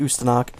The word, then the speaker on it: Ustanak: uh back on the usthanak ustanak yeah that's how you pronounce it ustanak it is a serbian word it means revolution so that's pretty cool